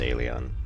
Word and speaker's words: Elyon: on alien and the actually it's pronounced i think it's pronounced alien let me close the